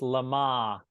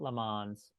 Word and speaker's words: Le Mans: Line together I believe Chris is saying it's pronounced Lamar not Le Mans uh I guess they